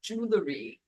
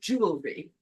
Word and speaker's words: jewelry: also taught me that it's not pronounced jewelry it's pronounced jewelry because I said something about the jewelry she no no no my dear it's Jewel and I was like